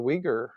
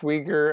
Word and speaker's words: Uyghur: So it's pronounced Uyghur, I believe, and it starts with a U. Um, so it's a little counterintuitive to those of us in the West, but Mm, they're a